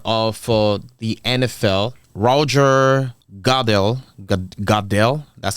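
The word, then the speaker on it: Goodell: so the commissioner of uh the NFL Roger gel gel that's how to pronounce it he say that they're good nothing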